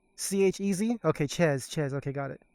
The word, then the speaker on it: Chez: Chez. C-H-E-Z?